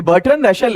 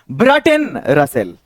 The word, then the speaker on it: Bertrand Russell: ये बर्ट्रन रसेल है, इसको पढ़ा गया है ब्रटन रसेल, ये नाम है।